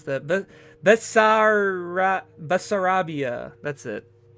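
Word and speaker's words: Bessarabia: I forgot how to pronounce that. Basar Basarabia. That's it. Yeah, Basarabia.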